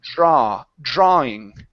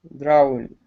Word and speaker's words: drawing: It's drawing. Drawing. Okay, so here's the trick. Okay, with the dr. Okay, you know how to pronounce the R, but the D, you want to pronounce that like a J.